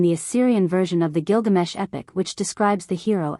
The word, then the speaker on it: Gilgamesh: G GES pinch's Discovery pointed conclusively to the popular pronunciation of the hero's name as Gilgamesh and since alien daura